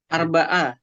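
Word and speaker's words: أربعة: arrobi ya. Oh, bukan Arabi, Arbaa. Eh, Arbaa. Ini bacanya arrobi ya, yang keempat. Arabi. Arrobi bukan. Arbaa.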